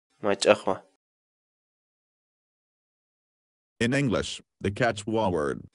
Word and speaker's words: mach'aqwa: series videos where we teach you how to pronounce certain words in Quechua so our word of the day for today is my Tahoe my Tahoe my Tahoe in English the Quechua word right aha mean